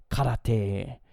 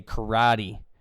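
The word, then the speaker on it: 空手: But it is karate, or in English we'd say karate, but karate is how you would pronounce it in Japanese.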